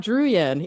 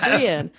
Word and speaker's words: Druyan: pronouncing it weird, it's only because that's actually how it's pronounced. I know, right? It's not Druyan, even though you've been saying that for years and years. It's Druyan.